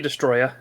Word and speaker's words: Destoroyah: This is one of the ones that I still have trouble pronouncing. Godzilla versus Destoroyah. Destoroyah. The one, You can just say Destroya.